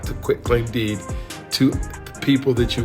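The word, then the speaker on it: quitclaim deed: were quick tank deed Quick Claim Deed quit claim deed that's how you say it over to to her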